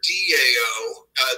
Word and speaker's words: Dao: Shiva between the philosophy of Taoism which you can spell they their ta o or Dao that's actually pronounced with a D so these days people